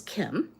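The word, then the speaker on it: Kym: My name is Kim, and it's spelled K-Y-M.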